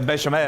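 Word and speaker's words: béchamel: - A bechamel. - Bechamel, that's right. - You have to say it 'like-a-that'. - Bechamel, "bashamel", bechamel.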